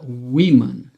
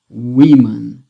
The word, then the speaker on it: women: Woman, women. Woman, women. Esse segundo ozinho aqui é como se fosse um E na hora de ser pronunciado, né?